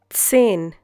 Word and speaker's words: zehn: Zehn. Once again, zehn. Hope you remember the pronunciation of Z in German. It's TS.